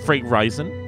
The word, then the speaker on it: Fray Rizon: It's Fray Rizon. That's how I pronounce it. Short for Horizon.